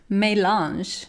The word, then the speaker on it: melange: time it's called melange I actually just looked up how to pronounce this word and apparently it's May launch we have a search